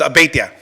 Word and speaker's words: Abeyta: Trustee Dwyer you Dwyer you butchered my name. It's Abeyta.